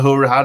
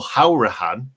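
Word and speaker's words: Hourihane: loan signings that we've brought in um conor huracan obviously or how rihan should we say that's how it's said apparently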